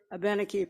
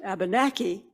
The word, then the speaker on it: Abenaki: nohegan a benefit citizen you may have heard the word abenneke pronounced abenaki joe says abenneke matches a spoken language better so i'll use that